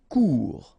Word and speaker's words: court: Couper court. Final T not pronounced.